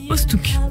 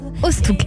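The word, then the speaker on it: Oosthoek: Ostouk. Ostouk. Voilà. Alors ça s'écrit sur YouTube Ostouk, O-O-S-T-H-O-E-K.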